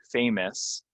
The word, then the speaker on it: famous: screen for example uh fa famous this is not a a it's a famous famous famous these words uh it's